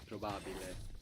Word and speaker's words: probabile: Think of how it's written. How it's spelled P-R-O, no? B-A. Proba. Probabile. Probabile. Seems like an extra B.